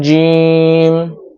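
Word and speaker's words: جيم: তারপরের হরফ হলো জিম। জিমটা উচ্চারণ করতে হবে জিহ্বার মধ্যখান উপরের তালুর সাথে লাগিয়ে বাতাস বের হওয়া ছাড়া উচ্চারণ করতে হবে, অর্থাৎ বাতাস বের করতে পারবেন না।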